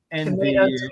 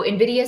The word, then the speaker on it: NVIDIA: Yeah, I hear both NVIDIA and NVIDIA. Yeah. I think you say it correctly. You say NVIDIA. I say NVIDIA. There's no I between it. It's just N and NVIDIA.